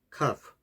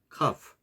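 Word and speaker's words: كاف: 카프, 경쾌한 키역 발음. 카프, 카프.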